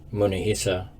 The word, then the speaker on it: Munehisa: michael mckay this is munahisa which in japanese is pronounced munehisa go figure he was